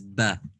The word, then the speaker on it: ب: the first one up is ba between the two lips pressing the lips together ba good next one